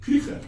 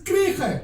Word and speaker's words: Kruger: But let me help you with the pronunciation of that. It's actually said Kruger. How can I say? Oh, it's Kruger.